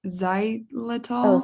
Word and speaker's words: xylitol: I don't know how to pronounce this medicine. I should, but does Oh, xylitol, xylitol.